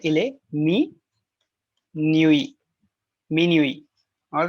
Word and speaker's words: minuit: Minuit. All right. So this is just to tell you the pronunciation minuit.